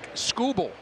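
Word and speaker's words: Skubal: strikeout and im an inning is name TK scoble that's how he pronounces his name and he has a good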